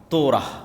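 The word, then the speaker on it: Torah: তোরাহ বলে ইহুদিরা উচ্চারণ করে যে তোরা যখন তাওরাত দেওয়া হলো।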